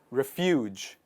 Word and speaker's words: refuge: is called refuge refuge the stress is on the second part refuge but the people who